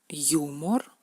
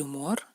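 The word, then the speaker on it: юмор: Por ejemplo, al principio de la palabra se pronuncia como yu, humor, el humor, humor, y dentro de la palabra se pronuncia menú.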